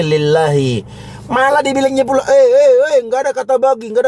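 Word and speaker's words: لِلّٰهِ: Bacanya bukan lillahu tapi lillahi.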